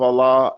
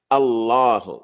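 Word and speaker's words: الله: The name of Allah and the name of the Prophet. The name of Allah has a lam that's mushaddada.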